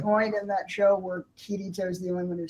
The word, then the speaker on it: Kirito: Also, it's KIRITO. KIRITO. You kept saying it. And I kept saying it so wrong.